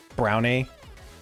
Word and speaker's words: Brani: But the crunch I think we might make that the name Brani and then in parentheses pronounced brownie.